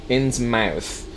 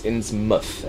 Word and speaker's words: Innsmouth: Innsmouth is technically incorrect. It's Innsmouth. Anything with mouth in an English town is pronounced muth.